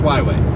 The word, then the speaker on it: Huawei: It's really, but it's pronounced Huawei.